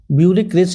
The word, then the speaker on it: bureaucracy: next হইলো the tick mark the words which correct spell, এটা বিউরেসি, বিউরিক্রেসি actually উচ্চারণটা হবে, বিউরিক্রেসি মান কিন্তু BUEUCRACY, না BUREAUCRACY,